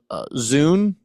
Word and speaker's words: Zun: I'm sure I'm mispronouncing. Is that one of those things, Tony, where it's actually like a noise? You muted yourself. Oh No, it's more of a TS sound like sun.